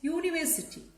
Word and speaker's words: university: Next, university. Just now I told you about this word. The word is beginning with a vowel letter, but it has a consonant sound.